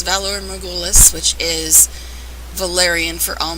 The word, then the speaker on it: Valar Morghulis: it's called valor megolis a lot of people seem to have trouble pronouncing that even though they say eight million times your style throughout the show but it's valor magoolus which is valerian for